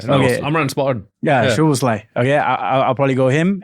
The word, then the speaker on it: Szoboszlai: Szoboszlai. How do you say it? You probably know. Szoboszlai. Szoboszlai. Yeah, Okay. Amran spot on. Yeah, Szoboszlai.